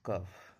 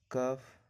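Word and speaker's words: cough: जैसे सी ओ यू जी एच, यहाँ पे यू के बाद क्या है? जी एच है। यू के बाद जी एच है तो यू का उच्चारण नहीं होगा, इसको पढ़ा जाता है कफ।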